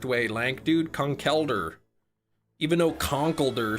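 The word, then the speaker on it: Conkeldurr: but I I'll at least acknowledge that I'm pronouncing it incorrectly. Kungelder is apparently the correct way. Lank, dude. Concelder.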